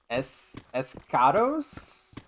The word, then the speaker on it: Eschatos: It is from the video game Escados, I believe. But it's spelled kind of weird. It's like ESCHATOS.